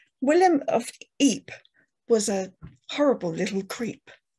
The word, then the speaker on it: Ypres: William of Ypres was a horrible little creep. Isn't it amazing how Ypres rhymes with creep?